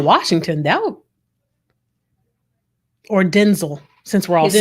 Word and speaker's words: Denzel: the promotion but then it halted yeah yeah denzel washington doubt or denzel since we're all his name is denzel since